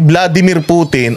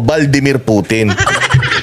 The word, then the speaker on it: Vladimir Putin: maging xox person dahil hindi mo nga mabanggit si Vladimir putin ang bigkas mo valdir putin Ang tatanga na nila